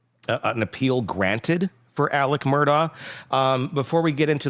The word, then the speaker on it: Murdaugh: It's Murdoch. They were saying like Murdoch. Yeah. And and Alec does too. Alec hits the K in there.